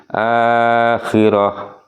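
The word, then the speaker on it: الآخرة: Akhirati di atas ha. Kemudian ada harakat kasrah di bawahnya di bawahnya ha. Maka ketika berhenti ini berubah menjadi ha sukun. Jadi membacanya menjadi akhirah ya, akhirati menjadi membacanya akhirah.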